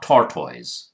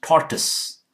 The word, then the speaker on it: tortoise: This one, it's such a complicated symbol here, but it's not tortoise. It's tortoise. Tortoise. The sound. Tus. Tortoise.